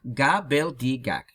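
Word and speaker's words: gobbledygook: Читается как габелдигак с основным ударением на «га» в начале слова.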